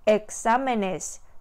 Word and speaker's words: exámenes: 기본형 단수가 가지고 있던 위치를 그대로 지켜서 발음을 해줘야 돼요. examenes, examenes. 그러면 이번의 문법 규칙에는 어긋나는 표현이 되죠.